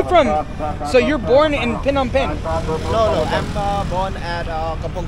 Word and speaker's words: Phnom Penh: But from Phnom Penh?